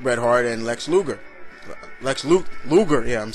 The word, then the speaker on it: Luger: Luger, yeah, I'm saying it right.